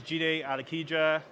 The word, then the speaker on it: Jide Alakija: me yeah all right so my name is jii de ikita that's how you spell my name that's how it's pronounced I am a British born Nigerian photographer